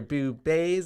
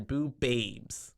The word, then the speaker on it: BooBaes: one word that's right because we're your boob base not your boo babes that's right no second